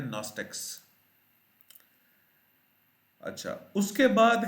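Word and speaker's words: Gnostics: फिर उसके बाद है नॉस्टिक्स, इसमें भी जी साइलेंट है जी, possessing intellectual और एजोटेरिक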